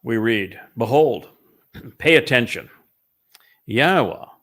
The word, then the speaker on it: Yahowah: read behold pay attention yahwa ywa is the proper pronunciation of yahwah's name as elah God as